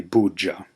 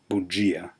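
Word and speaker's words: bugia: joural buia you would think it would be bja but this is another pronunciation difficulty however it is pronounced buia means lie JY JY R name this concludes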